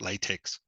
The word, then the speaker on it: LaTeX: to some academics that, as Andrew said, it's pronounced LaTeX, that you don't speak with a colleague or an academic and say we need to talk about latex.